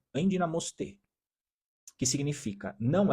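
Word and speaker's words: ἐνδυναμοῦσθε: No original, tem uma palavra que, no grego que fala, a pronúncia aproximada no português é endinamoste, que significa, não é façam força, significa recebam força, ou seja, você recebe essa força de forma externamente.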